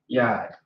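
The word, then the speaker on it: יד: So this is simply going to be you got the ya and then you got the duh. All right, yad.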